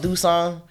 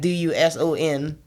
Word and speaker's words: Duson: Like they got a city called Dusson. but it's like Duson, so you would think it was Doosan.